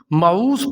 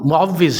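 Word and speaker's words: مُعَوِّذ: کا شمار ہوتا تھا۔ اس نام کو عموماً معوذ پڑھا جاتا ہے۔ اس کے انگلش سپیلنگ بھی بالکل غلط لکھے جاتے ہیں۔ یہ نام معوذ ہرگز نہیں ہے، بلکہ درست نام معوذ ہے۔ اس کے بعد نام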